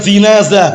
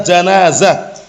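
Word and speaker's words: جنازة: menyelenggarakan jenazah penyelenggaraan jenazah ingat-ingat bukan jinazah bacanya janazah Antum kita orang Ajam lisannya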